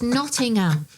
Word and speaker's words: Nottingham: say Nottingham, the term Nottingham, there's no such place as Nottingham. It's Nottingham. Nottingham. Say it properly.